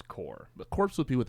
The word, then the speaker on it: Corps: Did you say corpse? Yeah, I wasn't gonna like. That's what it mention says. It's a Core. corpse. But it's core.